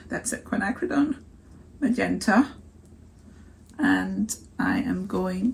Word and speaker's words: quinacridone: say this I never say this right uh quinacridone that's it quinacridone magenta and I am going to put a